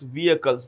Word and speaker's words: vehicle: Vehicles. The H in vehicle is silent.